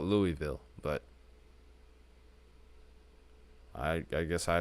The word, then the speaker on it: Louisville: got is towards uh Lewisville because apparently that's a pronunciation according to the news people in Georgia that this is Louisville Georgia which is crazy to me I want to call it Louisville but I I guess